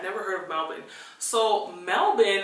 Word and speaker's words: Melbourne: heard of melbin so melbin is actually the correct way to pronounce melbour born Australia I worked on